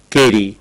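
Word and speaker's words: Carew: as c a r e w k so pronounce it kry Thomas kry was a court poet he was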